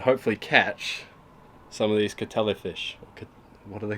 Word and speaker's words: Kattelhi: It has an abundance of tiger sharks here, which is another big tourist attraction, and a fish called the Kattelhi fish. It's spelled K-A-T-T-E-L-H-I.